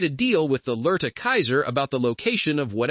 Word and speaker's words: Caesar: He manages to clarify that their origin, Kaiser, that's how they pronounce Caesar, is dead, and that might just be the founder, Edward Sallow himself.